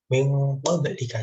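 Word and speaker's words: مِن قَبلِك: Jadi min qablika, karena dalam ilmu kaidah bahasa Arab, ilmu kaidah tajwid, nun mati bertemu qaf ini dinamakan iklab, dengung, min qablika, seperti itu.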